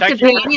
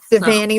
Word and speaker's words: Devanney: It's like Devanney, like Fanny. Liza hates it when I say that, but that's what it rhymes with. Devanney, like Fanny.